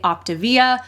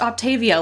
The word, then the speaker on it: Optavia: the multi-level marketing company optivia which I've recently learned is not pronounced Octavia like I've pronounced it forever you learned something new